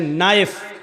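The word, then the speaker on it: knife: जैसे इंग्लिश में नाइफ किसको कहते हैं? चाकू को। नाइफ के माना चाकू, लेकिन के लिखा जाता है, बोला नहीं जाता, वो साइलेंट रहता है।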